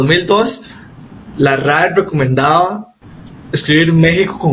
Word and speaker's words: México: algo más parecido a México, ¿no? El que es un sonido así como SH, y es por eso que nosotros lo escribimos con X, ¿no?